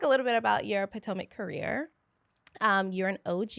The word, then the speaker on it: Potomac: It's not POTMAC or whatever they used to say. It is PTOIC.